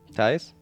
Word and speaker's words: Thijs: Actually, it's Thijs, if you say correctly. I got my problems there too with those Dutch names. Thijs? Yeah, I guess you say it like that.